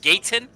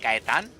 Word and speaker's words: Gaetan: That's Ricardo Gaetan, or as they say up north, Gaetan, but it's pronounced Gaetan.